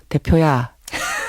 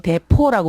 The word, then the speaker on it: 대표: 대표야. 대표야 이렇게 부르세요? 네, 저보고는 왕대표라고 불러요. 할머니들이 왜 오 발음, 이런 발음이 안 되니까. 맞아요. 대포라고 불러요.